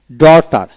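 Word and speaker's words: daughter: high high ্রো এখানে টটি ইউটি ট এভাবে উচ্চারণ করবেন তারপর আসেন এখানে ফাইট তারপরে বাও ডটার ডি ইউ জি এস টি আর ডটার অর্থাৎ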